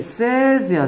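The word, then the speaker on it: says: 이거 뭐로 발음해야 돼? 얘 세즈야 세즈.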